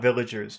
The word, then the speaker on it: villagers: What about villagers? Do you think that might be an important word also? Yes, Okay. And in that word villagers, which syllable has all of the power? village. First syllable.